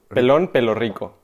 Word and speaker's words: Pelón Pelo Rico: So this is, how do you pronounce it? Pelón. Pelón. Pelo. Pelón. Pelón. Pelo. Pelo rico. Pelón. Pelón. Pelón pelo rico.